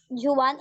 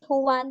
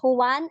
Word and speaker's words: Juan: um also in Reading Juwan is actually who won because in the Philippines the letter J is pronounced as letter H so it's Juan and Pedro can you follow Kano Juan and Pedro yeah yes